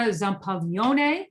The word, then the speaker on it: Zampaglione: My name is Zampaglione. David, I said that especially for you. He likes it when I pronounce it correctly. It's a soft G.